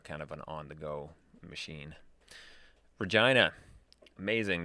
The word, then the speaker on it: Regina: of an on-the-go machine regina amazing the city that rhymes with fun a little bit of